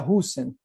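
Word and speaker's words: Rüsen: Segundo a teoria da didática da história, através do pesquisador renomado Jorne Hisen. Em espanhol é comum a pronúncia Husen, que denomina abreviaturas narrativas.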